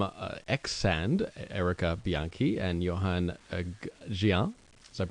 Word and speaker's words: Yoan Gehant: guests are from uh ex-sand erica bianchi and johann gian is that pronounced like that's correct welcome guys thank you